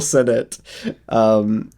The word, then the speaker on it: Sennott: I keep wanting to pronounce it like it's French. It's not French. Yes. Rachel Sennott.